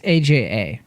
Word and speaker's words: Aja: thought was AG G is it Aja it's ajaa oh okay for whatever reason I thought it